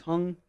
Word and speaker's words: Hung: Hung Cow.